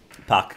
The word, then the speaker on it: Puck: Puck, quindi pronunciato all'americana e non alla tedesca.